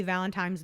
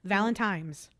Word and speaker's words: Valentine: Have you guys ever heard anybody say Happy Valentine's Day with an M? Valentimes. Valentine. What is that?